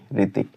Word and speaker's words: Hritik: लिख सकते हैं RITIK, ऋतिक। यहाँ H साइलेंट हो जाता है, छिप जाता है।